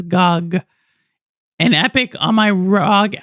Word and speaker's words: GOG: I can never say that word. People pronounce it as COG, but I pronounce it as GOG.